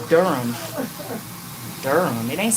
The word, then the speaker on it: Durham: I used to say Durham. Yeah, cuz that's how it's spelled. Durham. So that's what I had been saying until somebody was like, Tanya, it's Durham.